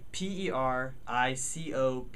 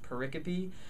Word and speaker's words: pericope: encounter later on that word is porreca p p ER IC ope it looks like pericope but it's pronounced porreca p if you type that word into microsoft word